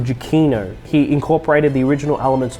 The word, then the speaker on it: Giacchino: It's not Giannaccio, actually. I mispronounced it in another video. The score of the movie was actually composed by Michael Giacchino.